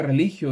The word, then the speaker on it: religio: latín que significa que que se pronuncia religio y y que y